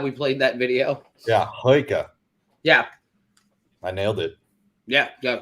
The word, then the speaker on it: Huyghe: The real name of the brewery, I'm going to try to pronounce it. Huyghe. Yeah! Huyghe!